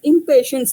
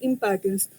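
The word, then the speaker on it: Impatiens: In the initial period, we think that it is impatience, the drug name is, but it is not the impatience, it is impatience.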